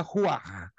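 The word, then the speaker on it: רוח: registrado é equivalente arruar se pronuncia Roar que o h a pronúncia do h no hebraico é como então é rua epinema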